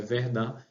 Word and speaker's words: Verdun: Isso aí é no chamado Tratado de Verdun, escreve com O aqui, mas a pronúncia é Verdun, e o império vai ser dividido.